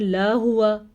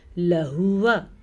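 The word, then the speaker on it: لَهُوَ: بعض لوگ پڑھتے ہیں لا ہوا، بعض پڑھتے ہیں لہوا، دونوں غلط ہیں. یہ ہے لہوا، لام زبر لا، ہا پیش ہو، لہو، واو زبر وا، کیا بنا لہوا.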